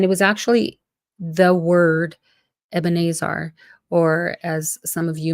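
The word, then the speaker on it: אבן העזר: all right so the the word is ebena AER and again it might be a name that you are um maybe accustomed to pronouncing as ebenesar or eaner um but in the Hebrew it's two words eban Azar and in the U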